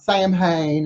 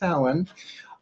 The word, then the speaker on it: Samhain: soin right si ma try and pronounce Alan not Samhain it's not Sam Hein it's Alan the deaf holiday essentially in